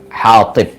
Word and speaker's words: Hatib: Hatib. Jadi kalau redaksi Arabnya itu ha ya, alif ha pakai ta ya, Hatib. Hatib bukan kha tapi ha.